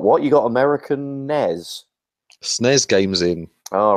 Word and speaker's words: SNES: rule, I suppose, but SNES just seems a natural thing. When you see it written out, you naturally want to say it like that. SNES is one syllable. S-N-E-S... That's four syllables.